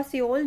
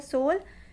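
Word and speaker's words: Seoul: सोल और सियोल जो आपको प्रोनाउंस करना है।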